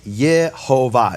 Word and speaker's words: Yehovah: this rabbi is saying the name is Yehovah, not Yahweh, not Yahwh, though you don't